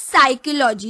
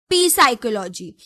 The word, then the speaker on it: psychology: We pronounce it as psychology, not P psychology. So P is the silent letter.